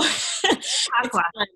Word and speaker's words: Chautauqua: I slaughtered the name Chautauqua. I slaughtered that. Oh my gosh. Oh no. Chautauqua. Looking at it is a little intimidating, because it's like, how do you pronounce this? But then once you get it, you got it.